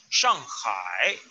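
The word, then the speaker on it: 上海: A ver, ahí la pronunciación hay que quitarle la I. Y debe ser con acento cuarto. Shang, no con Shang, tercero. No. Cuarto, Shang. Shanghai. El segundo carácter debe hacer acento tercero. Shanghai. Shanghai.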